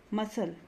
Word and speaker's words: muscle: seen conscious sea silent obscene obscene scenario scissors muscle fascinate fascinate descent disciple crescent science scent conscience